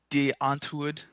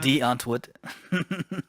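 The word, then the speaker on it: Die Antwoord: If you're not really sure what we're talking about, go check out De Antwoord, which is how That you're or supposed to pronounce it. D Antwoord.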